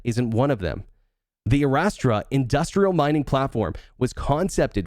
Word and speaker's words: Astra: Arastra? Yeah, Astra.